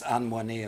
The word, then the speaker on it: Anne Moinet: Anne Moinet, certainly was, Anne Moinet, as I should pronounce her.